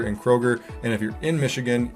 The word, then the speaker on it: Kroger: we got Meyer and Kroger and if you're in Michigan you know we add an S after everything Krogers Meyers it's not the right way to say it but hey what are